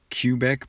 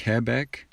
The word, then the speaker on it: Quebec: have another geographical reference Q for Quebec not cubic but Quebec and I gotta zoom in